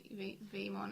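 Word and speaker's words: Veemon: He is in English, he'd always be Vmon, as in VEE, and then in the Japanese version, he'll just be letter V. This This Vmon is dead.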